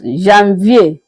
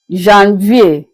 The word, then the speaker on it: janvier: In French, it is being pronounced as janvier. Janvier.